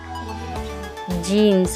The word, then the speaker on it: gneiss: When granite undergoes this process, like at a tectonic plate boundary, it turns into genes or pronounced gneiss.